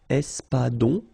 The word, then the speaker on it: espadon: O-N in your nose, nasal. On. Espadon.